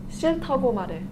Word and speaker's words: 싫다고 말해: Alright everybody, happy Halloween *teaching Jason how to pronounce 싫다고 말해* Ju Young: 싫다고 말해 Jason: shi-taco mal-hey